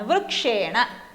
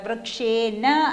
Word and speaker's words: വൃക്ഷേണ: വരുന്നു എ ഓൾ സ്വരമാണ് അതുകൊണ്ട് വൃക്ഷേന അല്ല വൃക്ഷേ ണ അപ്പൊ ഈ റൂൾ നമ്മൾ